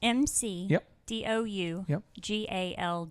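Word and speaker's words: McDougald: you spell that there m c d o u g a l d McDougal it's almost like it's a past tense it's a yeah actually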